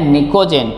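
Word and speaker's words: pnictogen: ही group number 15 उसको बोलते हैं निकोजन पी साइलेंट है और ये क्यों क्योंकि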